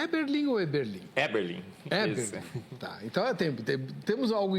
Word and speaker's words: Eberlin: Eberlin. Eberlin. Tá, então temos algo em comum, Isso, né? Com certeza. Pelo menos na pronúncia do nome.